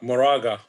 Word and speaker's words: Moraga: know and i'm gonna say is either the moraga or morega all right how do you say that because uh moraga moraga okay see it's just different enough like